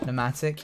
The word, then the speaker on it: pneumatic: It's a silent P. Oh. What? We're just like people just pronounce things differently. Pneumatic, yeah.